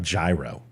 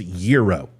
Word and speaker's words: gyro: fired don't ever tell a Greek how to pronounce a Greek word okay just saying it's Euro thank you it's not gyro it's not gyro it's not hero it's Euro okay Euro I got a lot of German